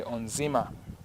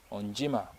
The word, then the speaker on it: Onzima: But then if it has N before it, then it is no longer pronounced as NZ. It's pronounced as NJ.